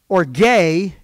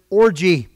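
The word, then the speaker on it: ὀργή: It's pronounced orge in Greek. We pronounce it orgy.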